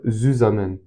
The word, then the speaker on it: zusammen: En fait, Z, ça veut dire zusammen. Zusammen, en tout cas, je le prononce en français, mais c'est de l'allemand, ça veut dire ensemble.